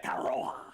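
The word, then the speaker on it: Tetairoa: Tataroa. Tataroa. See how he has that pronunciation down?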